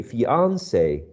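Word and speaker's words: fiancé: it's it's interesting that some people would would prefer uh the pronunciation of the word in the original version it sounds like more french right fiance uh just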